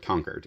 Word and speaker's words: Concord: area I can say people around here would call it conquered that's how people would pronounce it from Massachusetts around Boston hey where are you